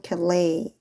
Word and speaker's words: Calais: During the Hundred Years' War, the English army captured the French city of Calais. S는 묵음이에요.